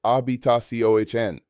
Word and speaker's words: habitación: Room is habitación, pronounced habitación. This is a longer word that requires practice. Break it down into syllables. Habitación. The stress falls on the final syllable, indicated by the accent mark.